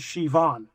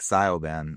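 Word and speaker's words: Siobhan: The woman is Shivon. Shivon. Okay, that's I was calling it like Sioban.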